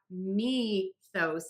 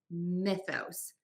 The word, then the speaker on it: Mythos: And so it's not mythos, it's mythos. Mythos with that short I, mythos.